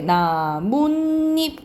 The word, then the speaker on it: 나뭇잎: 그리고 우리가 나뭇잎 자연스럽게 나뭇잎 이렇게 발음 나. 니은 소리가 덧나요.